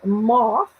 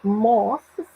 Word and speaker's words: moths: Where moths, olha só, olha a pronúncia. TH, né? Where moths and rust destroy.